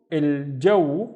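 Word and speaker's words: الجو: The first syllable is again il, and then jaw, il jaw, and il jaw means the weather, il jaw,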